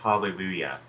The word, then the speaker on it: hallelujah: the word hallelujah when we say the word hallelujah the J actually doesn't make the sound that